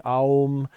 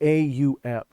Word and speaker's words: aum: now that now that it's not really ohm it's actually aom and it's actually meant to be aum and and this is